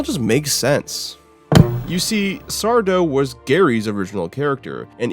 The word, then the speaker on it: Sardo: Or rather, as I should say, it's just Sardo. No mister and accent on the dough.